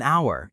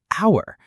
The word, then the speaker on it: hour: So, we say an hour even though h is a consonant because the h is silent. It sounds like hour.